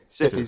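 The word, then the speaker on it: Hsu: Is it how do you pronounce? Stephanie Who? Sue.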